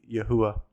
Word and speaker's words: Yahuwah: And this would be like a oo sound in the ancient pronunciation, so it wouldn't be a W, it'd be Yahuwah.